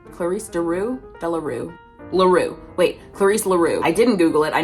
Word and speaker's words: Clarisse La Rue: Clarice Delaru. Clarice Daru. Delaroo. Laru. Wait. Clarice Laru.